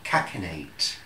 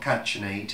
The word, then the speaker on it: catenate: see a CH I double n a te catenate that's how it's pronounced it's not catchin eight it's catenate is that for when you're out